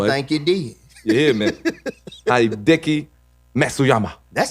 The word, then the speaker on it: Hideki Matsuyama: Hideki Matsuyama. That sounds good to me. That's probably how they announced I it when think- it came. Hideki Matsuyama.